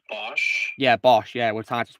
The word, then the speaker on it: Bosch: It's pronounced Bosch.